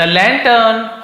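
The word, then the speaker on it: lantern: द लैंटर्न ऑन the hill, the लैंटर्न है, लैंटर्न लिखा हुआ है तो आर थोड़ा साइलेंट, जैसे डॉक्टर टीचर तो थोड़ा सा आर साइलेंट जैसे लैंटर्न।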